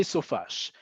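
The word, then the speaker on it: סופש: So, it should be samech vav for sof, right? The first two letters of the first word. And it should be shin, which is the first letter of the second word, shavua. It's not. It We say sofash. And we say sofash for a reason that we've talked about before. It's a little elusive, but it's an important one is it just sounds better.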